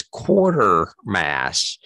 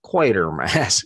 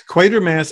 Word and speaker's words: Quatermass: always thought it was quarter mass with an r like a quarter coin and not only is it not quarter mask it's equator mass or at least that's